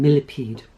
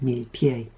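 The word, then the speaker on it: Millepied: Swan Lake was uh Benjamin milipede or I don't know he he was French um so uh might maybe it would be pronounced mil pi and he was a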